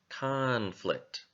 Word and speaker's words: conflict: conflict conflict that's right it's in the first syllable so we want to make the first syllable a little bit louder conflict conflict okay now that